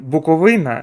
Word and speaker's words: Буковина: Е, до речі, мені там підказали, що я неправильно вимовляю назву клубу. Треба казати Буковина, тож надалі буду виправлятися.